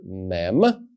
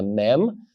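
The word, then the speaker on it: ם: left side we have the final form of the letter mem, which we pronounced ma.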